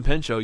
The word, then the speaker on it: Pinchot: Bronson Pinchot, you don't pronounce the T.